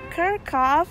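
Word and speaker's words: Kerckhoff: Sekarang kita lagi ada di Kirkhoff Hall. Did I pronounce it right?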